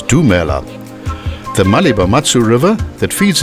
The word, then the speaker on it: Lumela: Similarly, the universal greeting of hello is Lumela, which is pronounced as Dumela.